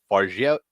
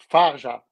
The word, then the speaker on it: Fargeat: I mean, to Coralie Fargeat. How do you say your last Fa- name again? yeah, Farja.